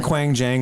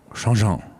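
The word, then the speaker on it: Qianjiang: We call them Quang Jang, but they're actually pronounced Shangzhang.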